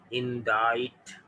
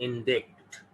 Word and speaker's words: indict: तो आई का प्रोनाउंसिएशन, आई की साउंड चेंज करने के लिए हमने यहाँ सी साइलेंट यूज कर दिया, तो ये हो गया इंडाइट। इट इज नॉट इंडिक्ट, इंडाइट, और इसका नाउन बनता है इंडाइटमेंट।